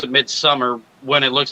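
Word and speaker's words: Midsommar: I still need to watch, like, even though people still pronounce it Midsummer when it looks like it's saying Somar because of the O.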